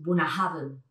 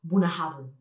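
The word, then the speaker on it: Bunnahabhain: vemos tantas palabras juntas, es Bunahaven. Pero es muy sencillo, precisamente, aunque veamos tantas letras, es de las más sencillas, Bunahaven.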